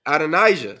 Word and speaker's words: Adonijah: now behold how do you say again adonijah adonijah SL it reth and now my Lord the